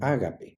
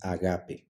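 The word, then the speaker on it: ἀγάπη: eta veamos Cuáles son agape amor el diccionario de la Real Academia Española dice que se debe pronunciar como ágape en griego nosotros la pronunciamos agape arg principio G tierra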